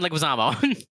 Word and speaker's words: Leguizamo: she loves john lewis this is john leguizamo right that's where he pronounces it it's john leguizamo thanks mom shout out